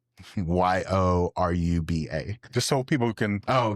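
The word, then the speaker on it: Yoruba: heritage the Euroba ethnic group the Euraba tribe spell that Euraba spell Y O R U B A.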